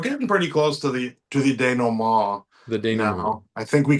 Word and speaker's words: dénouement: So we're getting pretty close to the denouement. The denouement. I think we can say that we are officially at the denouement. We have to say it like the French because this is Canadian. Le dénouement. Vous remercie, monsieur.